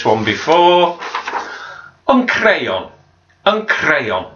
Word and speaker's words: crayon: before I'm prayin and crayon again roll the R for the sound next if we make